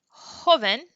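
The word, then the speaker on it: joven: what sound this makes j sounds like h so if we hear the word hoven that's supposed to be an n hoven means young so you have the sound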